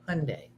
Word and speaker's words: Hyundai: Rhymes with Monday. Hyundai.